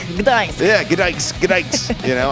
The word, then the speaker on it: Gdańsk: Just say Gdańsk, Gdańsk.